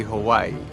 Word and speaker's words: Hawaii: and calls it paradise but pronounces it Howie we we we but I guess still technically out there she also said how if he wants is that near Wi-Fi it's actually Hawaii how what number four